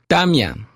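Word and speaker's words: tamya: in words in Quechua almost always the accent will be on the next to the last syllable of a word so we have the example of the word for rain damyang and the accent will shift when we say it's raining which is I'm yaku so for son the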